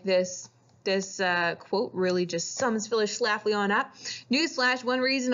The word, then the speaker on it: Phyllis Schlafly: And the main person who's going to be against the ERA is this lady, Phyllis Schlafly. That's how you say her name. Right down there. You can say it, Phyllis Schlafly.